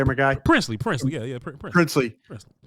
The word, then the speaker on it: Princely: Princely.